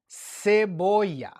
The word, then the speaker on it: cebolla: Now, pay attention because, again, if you're learning Spanish for Spain, in Spain, they pronounce the. Kind of similar to the Z, cebolla. So they would say cebolla. Latin America, we say cebolla. All right, so it's the same word, just with a slight difference in pronunciation.